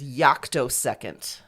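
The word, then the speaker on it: yoctosecond: um and then the last last one is yako second okay it's spelled y o c t o second all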